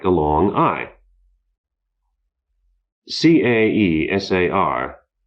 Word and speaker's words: Caesar: like a long i c a e s a r Caesar is pronounced Kaiser as the Germans know but we don't the